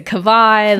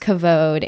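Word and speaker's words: Kavod: people have like buter the name is a cavad how do you pronounce this thing but no it is pronounced cavod and just to kind of backtrack a little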